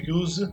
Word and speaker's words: use: When you use something. I use a car to go to work every day. Como é que eu pronuncio esse use? Com som de Z. Z. Use.